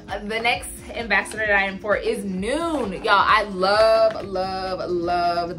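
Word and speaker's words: Nuun: ambassador time for is noon y'all I love love love this product so this is noon hey afternoon it's not done it is noon like noon as far as the time of the day I get a lot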